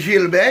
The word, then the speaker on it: Gilbert: So Gilbert, and you prefer Gilbert, not Gilbert? No, but Gilbert is the right way. Gilbert. Gilbert in French, yes, that's the Gilbert right Tirant.